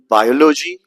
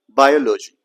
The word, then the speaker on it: biology: Do you pronounce it as biology, biology or anything like this? So let me tell you this word has four syllable in which the second syllable is to be emphasized. So we never say biology.